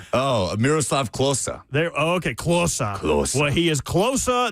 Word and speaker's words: Miroslav Klose: Oh, Miroslav Klose.